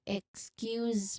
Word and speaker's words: excuse: Excuse me, could you repeat that? Excuse me, could you repeat that? You remember to stress the second syllable of excuse.